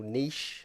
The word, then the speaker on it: niche: You kind of made that your little niche, and yes, I pronounced niche correctly, not niche, you weirdos.